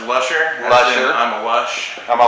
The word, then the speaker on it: Luscher: we are at Sig lucier am I saying that right well it's actually pronounced Lusher I'm a lush I'm